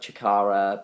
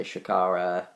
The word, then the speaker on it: Chikara: And just looking now, the ones I'm most aware of are I always pronounce it wrong because I always say like Chikara, but people say Shikara.